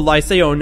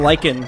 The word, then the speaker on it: lycaon: the lie say own whoever the person who corrected my pronunciation I was like likened like the moss now somebody corrected my pronunciation of life sound for lie say on I'd been saying lichen cuz I had no